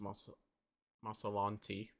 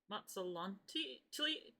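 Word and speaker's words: Matzalantli: It's I think it's just Masalanti. Matsalanti. T? Mazzolanti. Matsalanti. No, Mazzolanti. Sorry, that's not a T.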